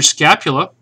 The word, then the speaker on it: scapula: Then your scapula, which rhymes with spatula, and it looks kind of like a spatula, funny looking one.